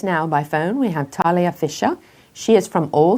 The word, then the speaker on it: Thalia: Joining us now by phone, we have Thalia Fisher. She is from All Seated in a Barn. I hope I'm pronouncing your first name correctly, am I? You nailed it.